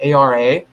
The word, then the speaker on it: Ara: southern object in the constellation of ara that's how you pronounce that ara it's a little tiny